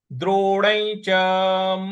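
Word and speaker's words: द्रोणं: शंख द्रोण द्रोण देखिए द्रोण ण के ऊपर जो अनुस्वार है उसके बाद च है तो ञ का उच्चारण ले आना है यहां पे हमको द्रोण द्रोण इस प्रकार से बोलेंगे द्रोण च मधु सूदना द्रोण च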